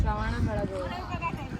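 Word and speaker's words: Shravanabelagola: Okay, I'll try not to pronounce it. Sarvan Belagola. Sarvan Belagola. Shravana Belagola.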